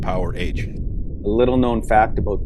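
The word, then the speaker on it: Powerage: takes my goddamn song just in case you don't know it's pronounced power hent a little known fact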